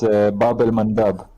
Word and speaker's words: Bab el Mandeb: It's Bab el Mandab.